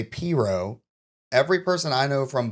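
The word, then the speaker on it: pirogue: pronounce it one way people above I 10 pronounce it the other way so we live above I 10 so we say pero mhm which is like a small boat like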